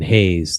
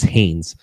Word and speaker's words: Hannes: a Bama guy, Justin Hayes, the Bama transfer who's been playing I probably mispronounced his name. I think it's Hannes. Um, Hannes. Yeah, thank you.